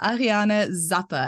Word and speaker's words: Ariane Zappe: we have a very special guest with us Ariana Zappa and I probably said your name wrong now so you'll have to say it